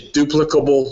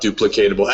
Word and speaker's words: duplicable: duplicate this is a duplicable system and that is the proper way to say that not duplicatable actually it's acceptable both now some reason I